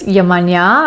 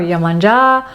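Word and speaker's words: Yemanjá: And then the next goddess we meet is the beautiful African Orisha goddess Yemanya or Yemanja. So many different pronunciations of her name, but she is now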